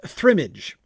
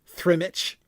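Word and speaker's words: Thrimidge: Uh pronounced thrimage, also written thrimage and thrimage. The latter being already most usual in Bilbo's time.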